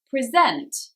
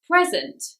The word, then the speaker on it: present: more active present present so first syllable for a noun second syllable for a verb let's look at some